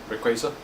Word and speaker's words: Rayquaza: Rayquaza?